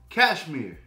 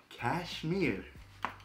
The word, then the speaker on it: Kashmir: don't butcher this i want to say it's pronounced cashmere yes live from celebration day official video the